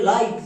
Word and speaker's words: lite: সো এল এর জন্য লো, আই এর জন্য আই, আর টি এর জন্য টো, শেষে ই সাইলেন্ট। এর উচ্চারণটা হয়ে যাবে লাইট, লিট না।